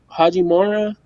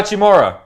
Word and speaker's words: Hachimura: Haji Mora.